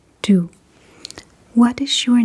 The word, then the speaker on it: du: And what you would say then is, "Hvad hedder du?"